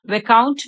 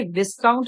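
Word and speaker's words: Viscount: वे जिसका नाम था वे काउंट बेकली सो यहां पर य विस्काउंट नहीं है कभी भी इसका जो प्रोनंसिएशन है वो रंग मत कीजिए क्यक कई बच्चे इसको विस्काउंट पढ़ेंगे इसमें एस साइलेंट होता है तो इसका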